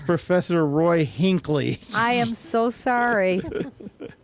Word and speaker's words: Roy Hinckley: Except Maria, somehow you butchered some of the names. It was Jonas Grumby. Oh, no. And it's Professor Roy Hinckley.